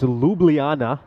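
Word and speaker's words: Ljubljana: advice there Dar seart saying it's lublana yeah of course always a tough name to pronounce for uh English speakers isn't it so yeah Luana playing tomorrow that was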